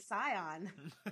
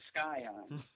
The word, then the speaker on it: Scion: pretty much that's an expensive Scion know is that how you say it I thought it was skion SK I'm familiar with